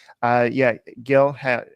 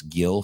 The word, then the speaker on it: Gil: So, Gil, it's pronounced, it's spelled Gil, but you're supposed to say it like with a silent G. So it's like Hill.